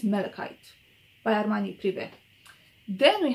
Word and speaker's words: malachite: performance everything is great armani vert maracaite malachite i never knew how to pronounce this i think it's malachite by armani privet then